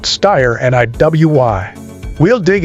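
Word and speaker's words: Steyr: Yep, that's pronounced Styer and a WY.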